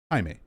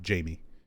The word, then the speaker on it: Jaime: Jaime, when it's a Hispanic given name, is usually pronounced Jaime, not Jamie.